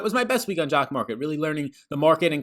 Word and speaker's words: Jock MKT: This video is sponsored by Jock Market. That's the logo that you see above. Jock MKT. It's pronounced Jock Market.